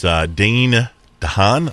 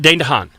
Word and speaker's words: Dane DeHaan: His name is Dane DeHaan, I think is how you say it. Dane DeHaan.